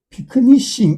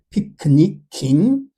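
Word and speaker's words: picnicking: 변할 수 있기 때문에 예를 들면 피크닉에 그냥 ing를 붙이면 발음이 피크니싱 이래 돼버려요. 그래서 원래 그 발음을 지키기 위해 안전장치로 K를 끼워 넣은 뒤에 ing를 붙입니다. 피크니킹, 패니킹, 트래피킹, 미미킹, 프롤리킹.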